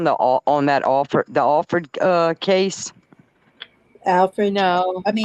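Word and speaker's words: Alford: maiden name it's it's people pronounce it Alfred but it's not it's it's a-l-f-o-r-d is offered offered you know and yeah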